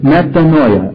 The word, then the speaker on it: metanoia: The Greek word is metanoia. I'll spell it in English.